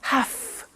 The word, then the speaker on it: have to: computer at work now did you hear my pronunciation I have to notice I don't say V I say F have half it becomes have to